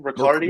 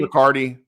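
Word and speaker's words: Riccardi: Ricardi. Ricardi.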